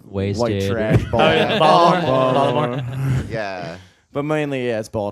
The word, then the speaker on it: Baltimore: You don't pronounce the T, right? Just In Baltimore. Like a Baltimore? D. It's just a D. It's like a Baltimore. Baltimore. That's right. Baltimore. T's are D's.